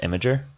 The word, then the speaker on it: Imgur: Imgur. I say Imgur. Well, I hear it's actually pronounced Imager.